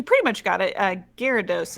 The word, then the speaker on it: Gyarados: much got it uh gyarados is how i've always heard it pronounced i think i might